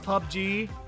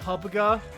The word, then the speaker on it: PUBG: I also love that that game has like 3 different ways to pronounce it, depending on where you're from. Some call it PUBG, some call it Publica, some call it Plunkbat.